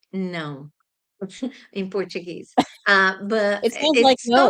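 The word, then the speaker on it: não: Is that is pronounced no in Portuguese.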